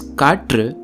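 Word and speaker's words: കാറ്റ്: So wind in Tamil is katr, but in Malayalam it's kat, a sound that is closer to old Tamil.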